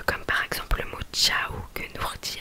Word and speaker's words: ciao: Donc pour que ça fasse le son tche, ils ont rajouté un I.